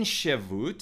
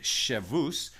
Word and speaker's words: Shevut: So another set of laws within Shevut, or I guess you could pronounce it Shavus, within that body of